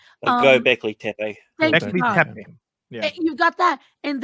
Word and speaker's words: Göbekli Tepe: But then you've got Megalotepe. I'm trying to remember how it's pronounced. Göbekli Tepe.